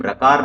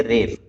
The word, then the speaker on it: रेफ: तो बाकी वर्णों के लिए हम आकार, इकार, उकार ऐसे कह सकते हैं, लेकिन रे के लिए हम रकार नहीं कह करके उसका उच्चारण करेंगे रेफ, अर्थात रकार उच्चारण नहीं होगा।